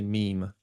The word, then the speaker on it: mime: it the mime troop m is the French pronunciation uhuh yeah my wife is French so they say meme yeah I think the